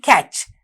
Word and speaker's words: catch: The same way, the word catch, C-A-T-C-H. Catch. We have a silent T and you don't make that T sound, but you write the word using the letter T.